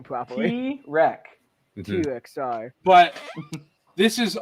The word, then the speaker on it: Tirek: The point with this literally runs a train over Tetrick. this Tetrick. I didn't know. I don't know how to say his name properly. Tirek.